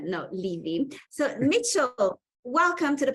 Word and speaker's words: Levy: Mitchell Levy, yeah, we just discussed the pronunciation of his surname. I thought it was Levi. He said no, Levy.